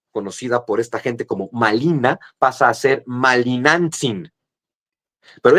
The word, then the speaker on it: Malina: Entonces, a la mujer que los españoles le llaman marina, los hablantes del nawuatel dicen malina porque no pueden pronunciar la r, le dicen malina.